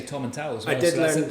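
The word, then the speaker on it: Tomintoul: And you learned how to say Tom and Tal as well. I did learn how to say Tom and Tal, not Tom and Tool.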